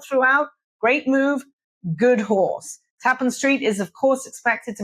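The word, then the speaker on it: Tappan Street: We know it's Tapen Street because Randy called the police station on Tapen Street in Boston and asked them how they pronounce the name.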